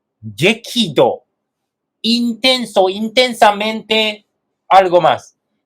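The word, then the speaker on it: 激怒: La pronunciación 激怒、激怒。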